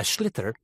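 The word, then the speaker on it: sliotar: And basically, you have to get this ball called a schlither.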